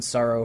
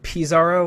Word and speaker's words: Psaro: general and one on sorrow from Dragon Quest 4 specifically I think I I think pizaro or or pizaro might be a more accurate pronunciation of his name but on the NES